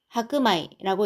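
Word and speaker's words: 白米: 그 다음에 현미일 때는 또 겐마이라고 읽습니다. 백미도 하크마이라고 읽는데요.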